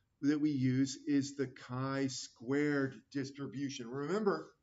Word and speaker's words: chi: we use is the kai Squared Distribution remember Sky rhymes with I Kai you can do